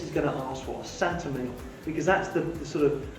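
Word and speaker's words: Saint-Émilion: what the guest is going to ask for santa meal because that's the sort of known name within this style of wine pronounced santa milo so the origin of sentiment on sentiment is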